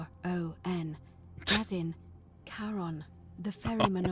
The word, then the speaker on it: Charon: The name you heard wasn't Karen. It was Charon, as in Charon, the ferryman of the dead.